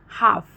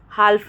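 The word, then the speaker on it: half: ठीक है, काफ में देखिए काल्फ नहीं बोल रहे हम, हाल्फ नहीं बोल रहे, हम क्या कर रहे हैं, हम काफ और हाफ बोल रहे हैं, मतलब एल साइलेंट हो जा रहा है।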